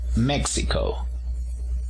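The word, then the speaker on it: Mexico: tenemos a méxico gméxico decimos méxico el acento se encuentra en la primera sílaba y en cuanto a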